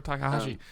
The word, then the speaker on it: Takahashi: it comes after pipe major pip major Takahashi like yeah that's interesting um I think it's